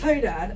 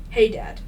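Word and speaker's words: Hadad: His name is Hey, Dad. I don't think I'm saying that wrong. How do you spell it? H A D A D. Hey, Dad. Unless it's hotad. Had that just sounds like saying hey dad in an accent.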